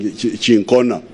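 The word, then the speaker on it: cinchona: My doctor here is saying chincona. For me, I was calling it chinchona.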